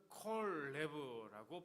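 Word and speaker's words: כָּל־לֵב: 어, 여기 또 보여지는 단어 중에 전심으로라고 하는 단어가 나오는데요.이 단어는 콜레브라고 발음을 하는데 콜이라고 하는 단어는 온전히 전부라는 뜻이고요.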